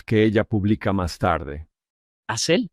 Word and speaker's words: Asel: Asel, así se pronuncia.